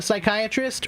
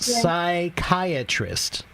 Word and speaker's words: psychiatrist: That word is pronounced psychiatrist. Psychiatrist. Yeah. Okay. Yeah, the Oh my P God, so hard. the P is quiet. You don't say the P at all, right?